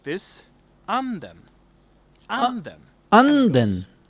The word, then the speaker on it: anden: So here we have the word anden. Anden. Not anden, but anden.